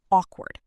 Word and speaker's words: awkward: The word awkward. A lot of learners say a word. But listen. Awward. The middle part is quick.